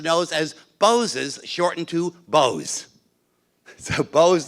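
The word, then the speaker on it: Boz: after Oliver Goldsmith Vicar of Wakefield and that's pronounces nose as boses shortened to Bo's so Bo's nose huh it's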